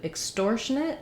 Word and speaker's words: extortionate: Then when we get to extortionate, it also has second syllable stress, but now the EX is voiceless. So we have, instead of the exor, we have extor.